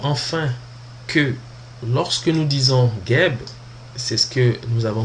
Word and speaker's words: Geb: Parce que dans le fond, ici, on dit Geb simplement parce qu'on rajoute un E pour pouvoir prononcer un mot, ou en tout cas un squelette à deux consonnes qui est G et B.